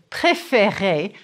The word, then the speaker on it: préférer: When you conjugate the verb préférer, you need both sounds.